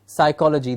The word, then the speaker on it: psychology: Maybe some letters are silent, yes, like psychology, the P in the beginning is silent, yes.